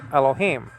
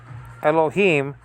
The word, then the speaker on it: Elohim: So that is to be pronounced together, that I-class and the yod, right after the hey. E. So elo, he. But that syllable is not complete yet, because there's a mem or an M at the end of this Hebrew word, Elohim.